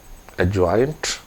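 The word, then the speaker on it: adjoint: सो एडजॉइंट ऑफ बी, एडजॉइंट, D silent होता है, एडजॉइंट ऑफ बी।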